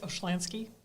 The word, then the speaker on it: Oshlyansky: name is pronounced um but i accept oshlansky yeah because it's easier for people to say awesome how would you